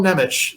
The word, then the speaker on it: Nemec: swear to God, when I first heard someone pronounce his name, I'm like, well, that can't be right. No, that is Simon Nemec is how you say it.